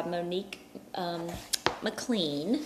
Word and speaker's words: Monique McLean: We are going through this 21 days of prayer for your business by Monique McLean.